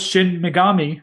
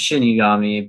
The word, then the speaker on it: shinigami: but i'm like i also thought it was shin megami and it wasn't shin megami it was shinigami so i was like okay yeah i i would know that it's pronounced shinigami because of bleach because that's like what the